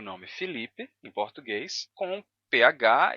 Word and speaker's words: Felipe: i para e e você pode escrever com e e pronunciar Felipe com i mesmo já que o português isso é muito comum em português que um e átono seja pronunciado como I Então s S variações